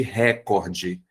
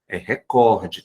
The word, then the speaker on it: recorde: rubrica nada de rubrica é a mesma coisa que recorde que muita gente chama de recorde recorde tá sem acento também essa foi mais difícil